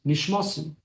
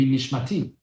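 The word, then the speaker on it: נשמתי: We say the words, Shehechazarta bi nishmasi. Or I'll say it in the more of Israeli pronunciation, Shehechazarta bi nishmati.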